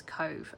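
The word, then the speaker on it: Cobh: Um so when you see it set sail from Queenstown, it is Cove. Um, but they changed the name back to the Irish version of Cove, which is spelled C O B H um, since then.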